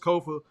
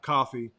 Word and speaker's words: Kofa: been your humble host, Kofa, Kofa, not coffee, not Kufu, not Kofi, or any variation thereof. Kofa rhymes with sofa.